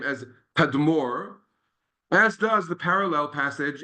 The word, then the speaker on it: Tadmor: In Arabic, it's pronounced these days Tadmor, but that's the same name.